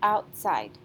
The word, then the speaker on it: outside: louder for example say go outside the last syllable sight sounds louder than out side is stressed so let's try that